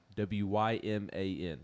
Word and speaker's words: Wyman: Mike Wyman, W-Y-M-A-N. Did I pronounce that correctly?